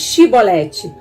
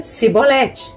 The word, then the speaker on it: Shibolete: Então lhe dizia, dize pois Shibolete. Porém ele dizia Sibolete, porque eu não podia pronunciar assim bem.